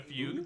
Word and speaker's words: fugue: F-U-G-U-E. Oh, fugue. In a fugue. It's pronounced fugue.